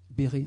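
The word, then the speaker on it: Besret: qui s'appelle qui s'appelle bernard baisserait béret enfants libérés mais ça s'écrit baisserait et puis françois rené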